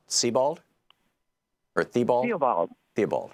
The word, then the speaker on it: Theobald: ol BA LD o the spelling that looks like Theobald but yeah but it's pronounced Sebald earthy ball evolve be